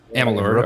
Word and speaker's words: Amalur: And I've played older games like Brutal Legend, Kingdoms of Amalur, right? Or Amalur. Amalur. And Amalur.